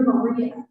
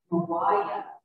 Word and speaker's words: Maria: i've since learned from the washington family that maria is pronounced mariah and her name she's there on the right anna mariah washington and i have